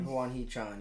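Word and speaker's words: Hwang Hee-chan: Huang Chi-chan? Is that how you say it? Huang Hee-chan? Huang Hee-chan, yeah.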